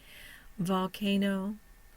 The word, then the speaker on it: volcano: n o one syllable our primary stress is on the ca second syllable secondary stress is on the no I have no schah